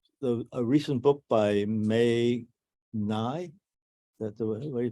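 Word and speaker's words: Ngai: uh the the a recent book by May Nye that the way you pronounced his name uh NGA AI on the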